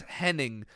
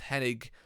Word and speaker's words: Hennig: looked bad in comparison kurt hennig was kurt henning but somebody spelled his name wrong and he was too polite to correct them and that's why it's it's hennig dax harewood is trevor